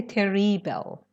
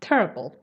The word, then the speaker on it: terrible: serious or terrible sharing the pronunciation is terrible don't say terry bell okay ah terrible terrible terrible very good